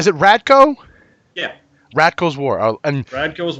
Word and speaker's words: Radko: How do you pronounce? Is it Radko?